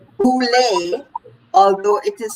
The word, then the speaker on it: boule: research this word for me it is called boule although it is spelled b-o-u-l-e look at the people who belong to that